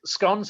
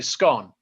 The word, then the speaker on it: scone: So I say scone, and I say scone. And scone in England is a regional thing in terms of how you pronounce it, but also a class thing. Mm-hmm. So if you say scone, pardon me, if you say scone, that was considered more upper class. Scone was more working class, and but primarily as